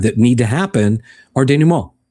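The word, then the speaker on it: dénouement: These acts that we've described that need to happen are denouement, right? They're see, that's how you pronounce it.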